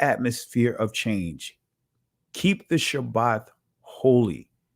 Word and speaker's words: Shabbat: Shabbat right and uh I know some of you guys say Sabbath Sabbath that is a Greek pronunciation right it is actually Shabbat right I'll say it